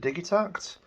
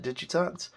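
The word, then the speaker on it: Digitakt: electron I think that I think they pronounce it digit act uh I still insist on calling it digit act and I hope that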